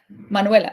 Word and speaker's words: Manuela: Okay, Manuela. Manuela. Yeah, like Spanish, exactly.